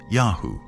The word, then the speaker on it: YHW: chasu lived is called yhw probably pronounced yahoo likely the name of